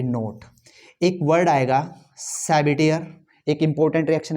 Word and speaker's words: Sabatier: एक वर्ड आएगा सैबिटियर, एक इंपॉर्टेंट रिएक्शन है मेरे पास सैबिटियर, इसकी स्पेलिंग जरा चेक कर लेना, SABATIER, सैबिटियर सैंड्रेंस,